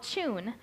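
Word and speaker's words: jun: If you have a resource for honey and you would rather use honey, there's a cousin to kombucha that's called Chun, and it's spelled J-U-N.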